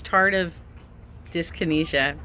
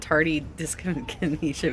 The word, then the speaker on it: tardive dyskinesia: Okay, so this tardive dyskinesia. I was calling it tardy dyskinesia because that's the way you kept pronouncing it.